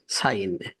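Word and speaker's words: sign: জিতে হচ্ছে সাইন এখানে জি আই এন সাইন সাইন কিন্তু জি উচ্চারণ এস আই জি এন সাইন জি এখানে হিডেন থেকে আছে প্লিজ সাইন দিস পেপার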